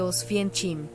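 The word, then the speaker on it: Oświęcim: De antes de la ocupación nazi, la ciudad se llamaba Osgim, se pronuncia aproximadamente Osfien Chchim.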